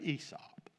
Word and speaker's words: Aesop: Now, it's spelled Aesop, but they say Aesop.